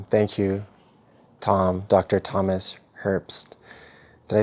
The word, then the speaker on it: Herbst: here now um thank you Tom Dr Thomas Herpst did I say that right herps you said